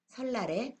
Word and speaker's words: 설날: 니은이 리을의 앞이나 뒤에서 리을로 변했습니다.